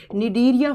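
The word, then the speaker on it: Cnidaria: निडीरिया phylum. सी से लिखा जाएगा लेकिन बच्चों प्रोनाउंस किया जाता है एन से, निडीरिया फाइलम।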